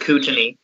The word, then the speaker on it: Kootenay: your map what's up it's pronounced kootenay thank you by patrick